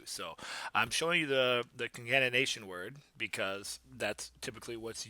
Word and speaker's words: concatenation: Concatenation. Concatenation.